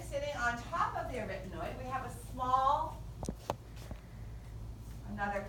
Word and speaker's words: arytenoid: All right, and these are the arytenoid or arytenoid, depending on how you want to pronounce them. Arytenoid may help you remember how to spell it. Arytenoid is how they're most often pronounced.